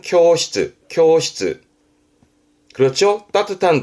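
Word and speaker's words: 教室: 발음은 쿄시츠, 쿄시츠.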